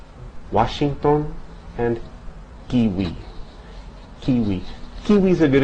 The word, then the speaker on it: kiwi: Although its pronunciation varies somewhat from region to region, you can safely pronounce it like the W in watch. Washington and kiwi.